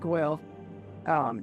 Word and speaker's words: Guil: me his assistant, Guildenstern, with Guil, Or Quill, because they can't say my name right. yes, he does pronounce it Guil.